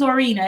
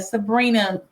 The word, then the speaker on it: Zorina: Z my name is zorina as you can see I got The Zo Part of it right um I always used to struggle with people mispronouncing zorina Sabrina oh God zorina so